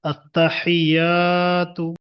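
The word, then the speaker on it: التحيات: আত্তাহিয়াতু আততাহিয়াতু। অনেক ভাইয়েরা তো মুখস্ত আছে কিন্তু টান গন্না অক্ষরগুলো উচ্চারণটা ঠিক করে নেন এখান থেকে আত্তাহিয়াতু এখানে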